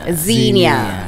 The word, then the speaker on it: Xenia: very how do we say your name correctly Xenia okay Nicola you ever had everything your whole